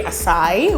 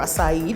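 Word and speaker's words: açaí: But because it's a sangria tini, we're gonna actually use this berry acai, or acai, depending on how you pronounce it, to kind of reinforce that berry fruity flavor.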